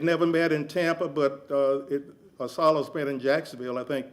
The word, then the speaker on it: ASALH: The acronym is pronounced ASALA.